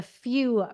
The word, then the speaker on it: PHEW: So you have something called the Few Foundation, PHEW. Am I pronouncing it right?